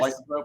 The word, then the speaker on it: lycanthrope: Is that how you pronounce it? Yes. Lycanthrope, a shapeshifter, a changer, a changeling, whatever, Right, a shapeshifter.